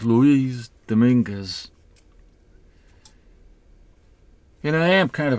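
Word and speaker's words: Luis Dominguez: is a a cover by uh I always pronounce his name the the English way Louis Dominguez but that's not the way it should be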